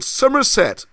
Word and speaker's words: Somerset: quissy you've got a county called summerset and i say it like that because where the solder apples grow somerset and that is said